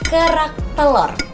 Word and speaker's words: kerak telur: Can you say it like kerak telur?